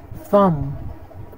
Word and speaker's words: thumb: methodology all right now let's see where to not pronounce the b in English that debt crime climb comb comb tune thumb thumb doubt doubt crumb